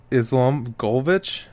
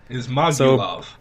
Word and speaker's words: Ismagulov: Damir Islamgolovich, whatever, against Joel Alvarez. Ismagulov.